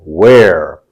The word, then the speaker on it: where: difference between were and where three words that are similar in pronunciation to where Hair Fair care knowing these three words pronouncing these three words is the same pronunciation as in where where Hair Fair care